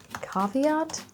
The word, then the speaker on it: caveat: I want to stress on the first syllable, caveat.